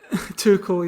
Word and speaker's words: Tuchel: Yeah, I think there was a quote by Tuchel. I don't know if you pronounce it Tuchel, like the manager. Or Around too cool. Tuchel, yeah.